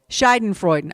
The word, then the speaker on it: Schadenfreude: Schaden, do you know how to pronounce that? Schadenfreude, okay?